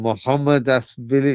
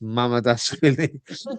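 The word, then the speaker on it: Mamardashvili: Mohammed Dasvili is not how you, it's Mama Dasvili.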